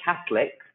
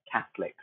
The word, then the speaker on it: Catholics: thee off lady solecism when I say Catholics it kind of becomes silent I wouldn't say Catholic it's just Catholics okay so we sort